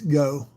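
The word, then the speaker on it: Geaux: It's G E AU X go.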